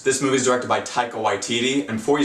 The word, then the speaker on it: Taika Waititi: This movie is directed by Taika Waititi, and before you sound off in the comments, yes, I checked, that is how you pronounce his name.